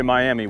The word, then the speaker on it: Miami: That's how we pronounce it, by the way. If you say Miami, we'll know really quick that you're not from here. But we're in Miami, Oklahoma, kind of the beginning of Route 66 for Oklahoma.